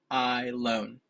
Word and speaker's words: Ahilon: it's a mil car I loan so like if you say I loan to the bank I'm really happy with